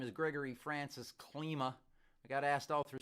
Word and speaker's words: Klyma: ski you know that has a e sound on the I vowel in in in Polish and so I was always asked that that clima or Klima and the english pronunciation the Anglo pronunciation of my name is Klima and I went with that long time ago it changed the I to a why thinking that that would just make people call me Klima and I've gotten